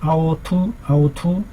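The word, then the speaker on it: 凹凸: 중국어로는 아오투 라고 읽습니다.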